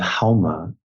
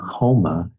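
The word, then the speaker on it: Haoma: In Zoroastrianism, you have Hauma, and in Farsi, they don't pronounce the S. They pronounce the S like an H. So Soma, Homa, the exact same thing.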